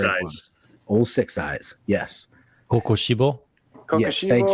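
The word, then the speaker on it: Kokushibo: Kokoshibo? Yes, thank you. Kokoshibo.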